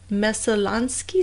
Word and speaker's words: Messalonskee: I mean, it was like a year later, in October of 2012, that police trawled the Messalonskee stream.